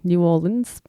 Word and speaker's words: New Orleans: man of new orleans i know i'm sounding very australian when i pronounce that my friend abby tried to teach me to say it the american way new orleans but it's a hard habit to break i'll do my best